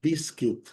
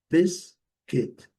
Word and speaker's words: biscuit: Biscuit. Biscuit. Primeira sílaba, sílaba forte. Letra Uma silenciosa. Bis kit. Bis kit.